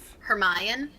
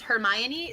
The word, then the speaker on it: Hermione: yeah that is right but in my head I was thinking it was her Mayan her my any it's Hermione so like no no it's Hermione it is Hermione yeah